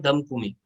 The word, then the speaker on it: DHAMKUMI: और तीसरी सिस्टर जो है उसका नाम है धमकुमी। ये स्पेलिंग्स जो आपको यहाँ से दिख जाएंगे, ये देखते जाइए मेरी स्क्रीन के ऊपर।